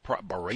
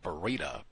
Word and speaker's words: Bera: They had the fire at the Berea Bera, that's how you say it, Bera properties, uh because they were using the space heater.